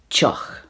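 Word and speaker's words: tŷ: The Irish for a house is teach. Teach. Although it could be pronounced tig as well, depending on the dialect. So, teach or tig in Irish. In Welsh, it's pronounced tea.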